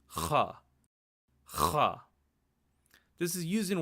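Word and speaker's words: ख़: To properly pronounce this sound, it's almost like a guttural sound, but it's almost like you're scratching your throat, and it should generate a lot of spit when you say the letter.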